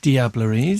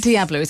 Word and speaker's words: Diableries: Yes, well, that's a very English way of saying it. You know, my partner, Denis Pellerin, would call it Diablerie. Okay. Without the S, because the S is silent in French, of course.